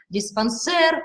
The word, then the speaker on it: диспансер: языка все тоже прозрачно жалюзи шоссе диспансер мы ударение ставим на последнем слоге языке австралии ударения преимущественно